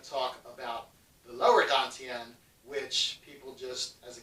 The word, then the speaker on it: Dantian: It's spelled Tantien. But it's said, when they pronounce it, it's Dantian.